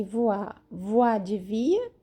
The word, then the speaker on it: voix: Para falar voz, se escreve V-O-I-X no final. Nosso X é X no final, ok?